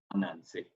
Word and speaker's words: Ananse: We have a guy called Ananse, and Ananse is supposed to be a spider, right? He's called Ananse the spider.